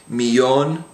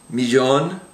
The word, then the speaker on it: millón: So the words we have on the page there would be millón, amarillo, and llama.